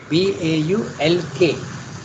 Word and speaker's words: balk: The word balk, you don't pronounce the L, Baulk.